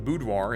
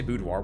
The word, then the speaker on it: boudoir: What do you say, boudoir with an R? Boudoir? Do you say boudoir? How do you say it? Because that's how we say it in American English, at least.